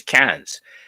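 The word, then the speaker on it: Cairns: little place and here's can's now it's spelled k yes I know but that's not how they pronounce it they pronounce it cans like tin cans and I spent a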